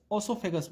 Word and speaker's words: oesophagus: इसकी स्पेलिंग जो होती है वो यहाँ पे छुटी हुई है, OESOPHAGUS, ऑसोफेगस बोलते हैं, ठीक है।